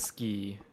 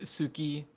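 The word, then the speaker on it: 好き: right, because like also with ski, we like sometimes jokingly you'll hear it said Suki, but Mm-hmm. it is largely just pronounced Ski ski.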